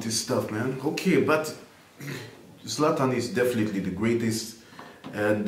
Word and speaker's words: Zlatan: You want to see Zlatan. Zlatan is the correct pronunciation, yes? Zlatan.